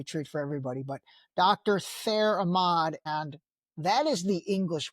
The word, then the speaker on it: Thair Ahmad: Yeah, and the way you'd say my name in Palestinian is Thair Ahmad.